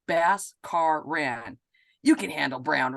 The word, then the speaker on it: Bhaskaran: And you're probably already wondering, Bhaskaran is pronounced Bhaskaran.